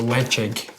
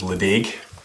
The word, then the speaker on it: Ledaig: a j um so the d here almost acts like a j so legend is is how i would pronounce that for years i thought it was la deg yeah but no yeah like jig as you see at